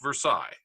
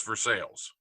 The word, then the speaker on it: Versailles: we have a Versailles, which is spelled just like Versailles, but in Ohio it's Versailles.